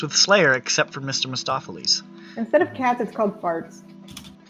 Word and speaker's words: Mistoffelees: Mistoffelees wait what it's not Memphis stafa Lee's its Mistoffelees I don't know anything about cats except for that character's name well all right mr.